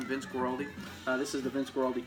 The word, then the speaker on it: Vince Guaraldi: for more his stuff definitely let people know Vince Guaraldi hey that's how you say his name Vince Guaraldi this is the Vince Guaraldi trio I think